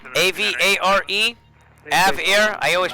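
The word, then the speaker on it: AVARE: It's AVAIR. A-V-A-R-E. AVAIR. I always pronounce it wrong, but it's for Android devices.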